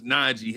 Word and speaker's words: Nnaji: Well, I would advise y'all look, hey man, look for James Najee. His on YouTube. His last name is spelled Nnaji. James Najee.